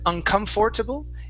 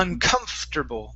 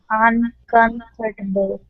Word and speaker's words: uncomfortable: Uncomfortable. Okay, so the OR there in the middle of the word, we don't pronounce that.